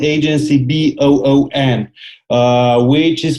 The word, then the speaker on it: Boon: And Agency Boon is a really U.S.-focused digital marketing agency. So the word Boon, you got it right. I mean, the root word, pronunciation-wise, sounds like good in Romanian.